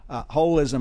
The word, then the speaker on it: holism: And it's spelled holism not because there's a hole in it, but because English speakers can't pronounce holism, because it's really the whole damn thing that we're talking about here. It's holism not with a hole, but rather with the whole thing involved.